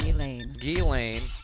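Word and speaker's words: Ghislaine: from a civil lawsuit against uh jalane maxwell elaine all right i gotta say s is silent in there guess lane get slain maxwell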